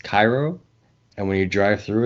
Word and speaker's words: Cairo: a town in Illinois called uh Koo this pronounced Cairo and when you drive through it it's like